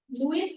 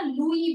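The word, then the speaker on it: Louis: का नाम क्या था, लुइस नहीं होता बेटा, फ्रेंच लैंग्वेज में हम ना लुई बोलते हैं, ठीक है, लुई, इस हम कभी भी नहीं प्रोनाउंस करते हैं, लुई, ठीक है, किंग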